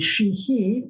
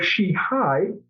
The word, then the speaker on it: Sheehy: And when your name is Sheehy, it can be Sheehy or Sheehy. The Irish pronunciation would be Sheehy.